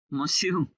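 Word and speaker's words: monsieur: আচ্ছা, বাকিগুলো এখান থেকে দেখি, এখানে বানানটা কি? মসিউ।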